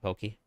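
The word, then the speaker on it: poké: It would be Poke. The food is... With the food version is pronounced like an A.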